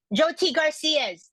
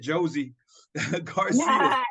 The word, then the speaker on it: Joe T. Garcia's: Okay, so it's Joe Joe, and then T, like the initial, and then Garcia's. Oh, Joe T. Garcia's. I thought you said Josie Garcia.